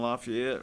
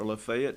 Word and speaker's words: Lafayette: And Vernon's at Dixie County, way down in Lafayette or Lefayet, depending on what part of the country you're from.